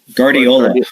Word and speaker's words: Guardiola: Barbara Greenberg at nine Alyssa how do you pronounce her last name coach I always wanna mess it up Guardiola Guardiola Guardiola I know why I was having